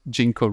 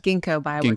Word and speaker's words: Ginkgo: pitch to jeno biow works and do I pronounce it jeno right Ginko like Theo treeo bioworks is a synthetic biology